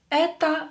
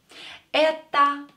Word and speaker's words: это: Это, same here, О is not stressed, so pronounce it as А.